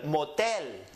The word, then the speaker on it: motel: Adele were going up on the end el motel read it Elmo tell liberal this is not